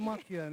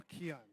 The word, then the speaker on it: Mackeehan: Pronounce it for me. It's Mackeehan.